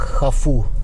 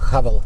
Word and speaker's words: Haval: На китайском звучит как хафу. Хафу. На британский, американский манер говорят Haval, Haval, Haval. У нас принято говорить либо Haval, либо Havail.